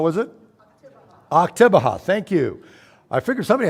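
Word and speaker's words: Oktibbeha: Octabeha, thank you.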